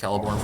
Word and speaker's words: Celeborn: I know some of the pronunciation, like Celeborn is pronounced Celeborn, for example, and like Arphidine.